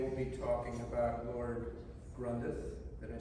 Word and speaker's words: Grandrith: And they will be talking about Lord Grandrith.